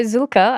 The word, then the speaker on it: Zühlke: So Zulka and thank you for pronouncing it correctly.